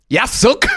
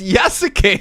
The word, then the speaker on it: Yasuke: Yasuk? I'm sorry, what? It's Yasuke, but it says Yasuk.